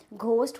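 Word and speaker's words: ghost: क्या होता है हैंडसम इसमें डी होता है साइलेंट घोस्ट होते हैं क्या आप बिलीव करते हैं इस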